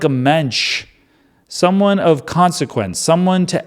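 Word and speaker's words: mensch: And he is, for lack of a better word, he's a mench. And I think that I think that's going to be in a hurray for Yiddish. Mench rhymes with bench.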